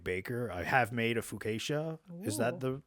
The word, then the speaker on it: focaccia: I have made a focaccia. Is that Ooh. the right way to say it? Focaccia?